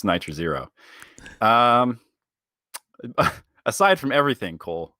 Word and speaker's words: nitr0: is nitro nitro zero you mean nitro zero i think that's it's pronounced nitro zero um aside from everything